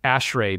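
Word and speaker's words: ASHRAE: on the left are acronyms which you actually pronounce as words so ashray Bim SQL lead NEPA Noma which are different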